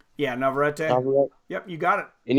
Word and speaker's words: Navarrete: And according to the odds, can you pronounce his name again? Navarrete? Yeah, Navarrete.